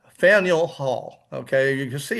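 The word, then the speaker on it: Faneuil: uh of the founding and it is called Faniel Hall. Okay, you can see it's f a nei. A lot of people pronounce it fine. That would be quite understandable but the actual pronunciation is Faniel. Faniel Hall.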